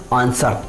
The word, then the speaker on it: answer: ठीक, अब मैं आपको एक और वर्ड बता दूँ, आंसर। तो आंसर की स्पेलिंग दी ANSWER, तो मतलब W के जस्ट बिफोर एस आया है तो वहाँ पे भी हमें W को साइलेंट करना है, आंसर।